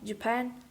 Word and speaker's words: Japan: than one unstressed syllable when we derive the word japanese from the word japan the primary stress shifts from the final syllable of japan onto the final syllable of japanese but it received the